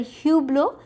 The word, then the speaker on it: hublot: sir you blow Hublot we say the word Hublot the H is pronounced okay and in the